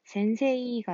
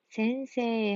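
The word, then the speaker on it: せんせい: 그래서 센세이가 아니라 센세 하고 발음을 하게 된다는 거.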